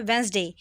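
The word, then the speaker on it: Wednesday: बोलना है simple normal वेडनेसडे Reddy use नहीं होता हमेशा डिश साइलेंट आता है वेनसडे इस कॉर्ड वेनसडे फॉर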